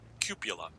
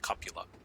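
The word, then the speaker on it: cupola: but it might hit the cuppola which people mispronounce cupula it's pronounced copula and there's no other pronunciation so don't check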